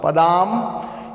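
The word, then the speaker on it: पदाम्: उसका श्लोक किस प्रकार से है, रत्नाकरा धौत पदाम, ये जो बिंदी है ऊपर है ना, इसका उच्चारण म के लिए होता है, हलंत वाला म। पदाम हिमालय किरीटिनीम ब्रह्मराज ऋषि रत्नाढ्याम वंदे भारत मातरम।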